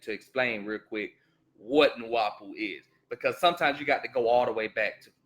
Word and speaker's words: Nu-Wau-Bu: It says, Nu-Wau-Bu is pronounced Nu-Wau-Bu.